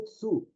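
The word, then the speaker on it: つ: Isso aí é um tsu, a pronúncia é tsu.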